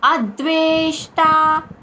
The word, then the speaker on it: అద్వేష్టా: సుఖక్షమి మొదటి చరణం చూద్దాం అద్వేష్ట అద్ అద్వే వే అద్వేష్ అద్వేష్ట అని పలకాలి ష కింద అల్ప ప్రాణి ట మహాప్రాణ అక్షరం ఏమీ లేదు మామూలుగా టా అని పలకాలి.